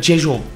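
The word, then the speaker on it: Rzeszów: Oradan da Frankfurt Havalimanı'ndan da gideceğimiz yere Rejov diye yazılan ama aslında Jejov diye okunan ya da Jejov. Jezov. Jehov Chov tam olarak benim de telaffuz edemediğim ama kesinlikle isminin Resov olmadığını emin olduğum yere gitmek için Polonya'nın ilgili havalimanına ineceğiz.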